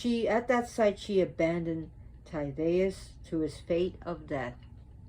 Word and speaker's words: Tydeus: She did take a liking to Tydeus. Remember, the D is a DH. Tydeus.